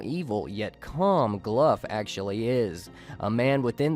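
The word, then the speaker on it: Glough: name is spelled GL 0 ugh but essentially pronounced glove and he's that evil gnome involved with the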